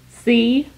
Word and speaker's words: Chambord: Chambord. That's pronounced Chambord.